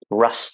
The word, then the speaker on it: russ: It's called the sort of rust time, it's spelled RUSS.